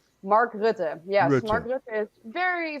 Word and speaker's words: Mark Rutte: Rutte? How do you pronounce the name of the leader of the Netherlands? He's a serious member of the World Economic Forum too. What's his name? Mark Rutte.